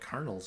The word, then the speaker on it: Colonel: think I know what Colonel's about oh that's another one that's not really pronounced the way it's spelled isn't it like Worcester but I guess those are